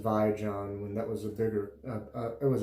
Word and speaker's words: Vijon: I remember it being pronounced Vijon when that was it was a big company here in the States for a while.